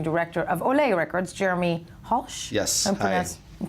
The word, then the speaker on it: Hulsh: ceo and managing director of olea records jeremy halsh yes employees i'm pronouncing your name right that's correct okay and